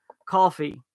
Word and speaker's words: Ko-fi: It's called coffee. It's not spelled coffee. It's Kofefe. Yeah, it's spelled K-O-F-I.